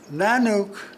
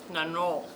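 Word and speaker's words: Nanuq: And Kublu said, now wait a minute, Nanook is not the way we pronounce that word. It's how is it? Nanok. No, with a UQ.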